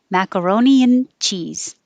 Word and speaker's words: macaroni and cheese: And if you put it together with an and, macaroni and cheese, you won't hear the and. It just gets shortened to an n. Macaroni and cheese, macaroni and cheese.